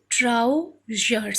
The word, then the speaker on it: trousers: Okay, then trousers, see, T-R-O-U, trow, one syllable, then another syllable, zers. Here S is pronounced as z, A-C-R is zers.